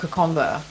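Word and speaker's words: Kokoda: uh who don't know Konda k o k o d a please understand the D in Fiji D in Fiji is pronounced with a with an an invisible n so um yeah it's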